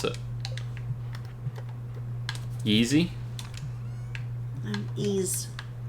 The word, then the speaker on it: Ys: pronounce it Yeezy um ease e okay not y e E8 and the ease